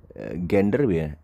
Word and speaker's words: gender: ada J sekarang ya gender gender ya Meskipun tulisannya G tapi kan bacanya J ya kan gender jenis